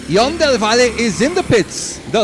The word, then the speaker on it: Ion del Valle: La pronunciação seria Ion del Valle.